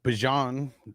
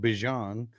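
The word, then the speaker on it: Bijan: Bjon, that's how you pronounce. That's how he said he wants. That's how he said he pronounces his name. Bjon. So it's Bjon, Chiran, and Warren.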